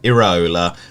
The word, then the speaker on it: Iraola: Apparently, Ben, Bournemouth's manager is called Iraola. West Ham's goalkeeper is called Areola.